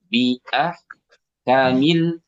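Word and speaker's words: بِأَحْكَمِ: Nah, tinggal kaknya jangan panjang. Bi'ah kamil, bi'ah kamil, jangan kamil.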